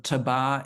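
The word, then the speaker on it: tabac: a tobacco shop there you don't pronounce the C at the end um you see them throughout uh Paris they're very common uh but if you look at the the number of tabba in uh San you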